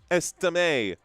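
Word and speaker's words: Estimé: It's pronounced estime. Estime. You're saying estime is pronounced estime? All right, I mean, actually the accent is over the E. Estime. Estime, yeah, that would be the correct. I'm putting the accent over the wrong syllable there, James.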